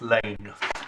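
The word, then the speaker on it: Laing: Justice Elizabeth Lane. Oh, my pronunciation. Sorry. Let's get these things right about one's colleagues. No, yeah, absolutely. That's in fact why she is Elizabeth Lane rather than Lang, because there was too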